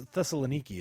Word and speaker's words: Thessaloniki: It's Thessaloniki is how I believe it's Okay.